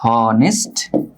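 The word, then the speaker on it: honest: শব্দে অনেস্ট যে শব্দ এই শব্দে এইচ এর উচ্চারণটা না এটা সাইলেন্ট এটা এটা বর্ণটা এটা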